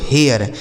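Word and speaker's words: hair: आपका चेयर ठीक है एच ए आई आर एच से हो गया दोस्तों ह इस ए आई का उच्चारण ए आर से हो गया र यह लिखा गया दोस्तों हेयर एच ए आई आर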